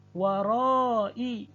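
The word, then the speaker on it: وَرَاءِ: Warai, walaupun ditulis dengan huruf ya, namun yang dibaca adalah hamzahnya.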